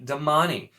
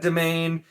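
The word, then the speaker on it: Damane: Then you also have Damani, which is D-A-M-A-N-E. Damani. I've always said domain. Once again, you don't need to pronounce that E.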